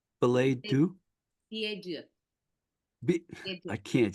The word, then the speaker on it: billet doux: And then in April, excuse me if I say it wrong, Belay Do? Belay Do? Billet doux.